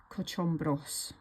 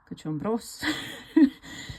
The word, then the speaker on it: Cochombrós: So if you look at it here, the accent should be on the bros, but then it's hard for me to say Cochombrós.